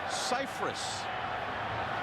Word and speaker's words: Cyphers: Actually, all these years, everyone's pronounced his last name incorrectly. It's Cyphers.